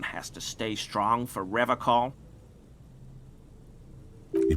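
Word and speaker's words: Revachol: to stay strong for rev call he pronounces rivercon with a hard k unlike other people i like to pronounce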